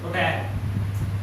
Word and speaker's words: hotel: H is silent in this word. sorry? Hotel. This word is pronounced as hotel.